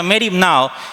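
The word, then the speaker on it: μέριμνα: Entonces existe una palabra griega que se pronuncia merno, así una palabra griega que se pronuncia meripna y que se traduce como afanarse.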